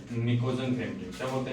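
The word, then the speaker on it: pnictogen: अब आप देखेंगे कि स्पेलिंग में मैंने पी लिख रखा है और पढ़ रहा हूं निकोजन तो ध्यान रखना प साइलेंट रहता है और इसका टी साइलेंट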